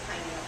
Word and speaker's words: pineal: We weren't sure how to pronounce it, but the woman, she had like a gorgeous Canadian accent. She kept pronouncing it pineal.